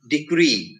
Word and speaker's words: decree: Or words ending in double E, E-E. Two E's. When words end in two E's, they are generally accented on the last syllable.